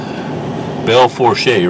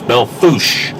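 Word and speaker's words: Belle Fourche: is the motel and that says belforche right nope that's belfoosh that's the way they pronounce it i'm sure it's a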